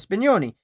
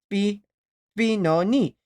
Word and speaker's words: Spinoni: game, often hiding within the plural form of Spinoni, Spinoni. The singular is Spinone, Spinone.